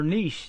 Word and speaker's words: niche: I think, or niche.